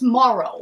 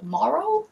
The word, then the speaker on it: Morrow: boy out is clay i think it's morrow morrow is how you say their last name but whatever so clay